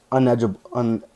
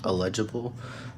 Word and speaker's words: illegible: It's pronounced illegible.